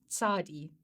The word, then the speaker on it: Tsade: And I really do trust that I'm saying that correctly. I have tried to make sure that I'm pronouncing it correctly, but Tsade, that's what it sounds like to me, and that's apparently the way you pronounce it.